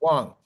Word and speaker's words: Wang: pronouncing it wrong I said no now maybe I have been but I say it's Wong yes Wong yes